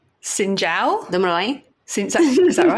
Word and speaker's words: Xin chào: Xin chào. Xin chào?